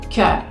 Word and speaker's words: cœur: Y si, por ejemplo, encuentro la O, E, U en la palabra corazón, en francés sería cœur, cœur. Sería el mismo sonido que producteur, viticulteur. Entonces ven que hay distintas maneras de escribir el mismo sonido en francés.